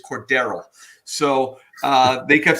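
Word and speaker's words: Cordarrelle: going to win and i believe the official a pronunciation of mr patterson is cordero so uh they kept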